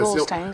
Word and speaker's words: Goldstein: Oui, La prononciation. Goldstein, c'est ça.